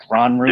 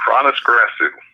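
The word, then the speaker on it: Hroniss Grasu: Gronru? Yeah, it's Chronis Grasu.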